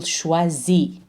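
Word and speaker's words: choisit: pronounce the S ill schwazi don't pronounce the T al-shwazi and then moving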